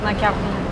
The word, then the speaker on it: macaron: Croissant Okay Croissant นะครับ Macaron Macaron Macaron Yes Once again it's the French R you know Macaron Oh Macaron with the R okay.